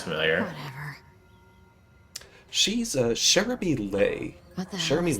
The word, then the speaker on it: Leigh: Jeremy Lee. Lay. L-E- Okay. Lay. I got the right one.